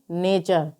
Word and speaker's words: nature: में URE आया है, तो यहाँ पर टी का उच्चारण च होगा। तो NATURE को हम क्या पढ़ेंगे? नेचर।